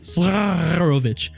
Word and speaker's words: Zarovich: However, seeing that the fight was hopeless, the defenders dropped their weapons, allowing the figure to officially introduce himself as Strahd von Zarovich.